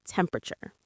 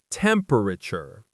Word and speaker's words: temperature: The stress is on the mom and the measurement is temperature. Temperature. In casual American English, we often say it faster, almost squishing the syllables together, like temperature.